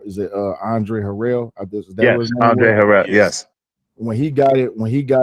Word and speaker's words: Andre Harrell: he showed to, I might pronounce the dude's name wrong. Is it Andre Harrell? Yes, Andre Harrell.